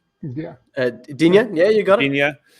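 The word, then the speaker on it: Digne: uh i can never say his name d dingnia yeah uh dunya yeah you got it yeah uh i know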